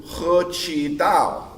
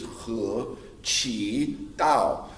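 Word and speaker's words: 合气道: So when they see it, they go, oh, you do He Qi Dao. And that's how you say it in Chinese, He Qi Dao.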